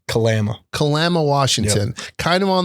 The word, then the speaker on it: Kalama: How do you pronounce it? Kalama. Kalama.